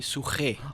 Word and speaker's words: Suquet: can pronounce it I I heard my name being pronounced differently. All right. Suaquet, yes, sounds a little bit Rift Valley in part. All right. Yes. But some people call me Suahe.